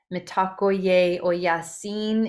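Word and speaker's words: Mitakuye Oyasin: Mitakoye oyasin is how it's pronounced if you really delineate each syllable.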